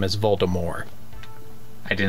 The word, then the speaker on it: Voldemort: I Didn't Do It Voldemort did did you know that the original intent was for the te to be silent and his name was Voldemort so much so in